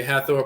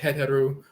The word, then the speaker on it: Het Heru: They say Hathor, but Het Heru, adored in the Fayum, a region of Kemet and so forth.